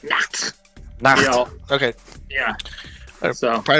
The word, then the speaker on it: Nacht: You gotta really hit it like Nacht.